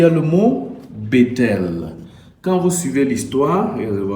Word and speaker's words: Bethel: Effectivement, le mot Bethel a prononcé Mbe. Mbe signifie maison dans les langues hébraïques du Paléo de l'ouest du Cameroun, de votre pays, de tout votre pays, du village Bachê. Et tel va se prononcer Nte.